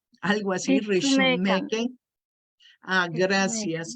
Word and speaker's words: Ritsumeikan: Universidad de, el nombre, a ver si lo pronuncio bien, es algo así como Rich, Rishumeken, algo así, Ritsumeikan. Rishumeken. Ah, gracias. Ritsumeikan.